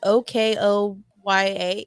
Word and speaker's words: Okoye: It's Okoye.